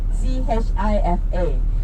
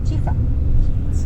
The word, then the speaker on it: chifa: You know why they call chifa like 吃饭, 吃饭, chifa, chifa. Ah, that's the pronunciation. So because they cannot pronounce it correctly, they say chifa, chifa, chifa, chifa, right?